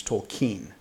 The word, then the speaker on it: Tolkien: all my life I always I've always said Tolkien and I keep seeing more and more getting more and more verification that the correct pronunciation is told Keane yeah and so I've been trying it sometimes